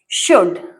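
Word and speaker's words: should: ई वी शुड शुड इसमें देखो यू एल डी लिखा है बट उसका साउंड नहीं आ रहा है। नहीं आने का रीज़न है। यह साइलेंट लेटर है। इसलिए इसका साउंड यहां नहीं आता है।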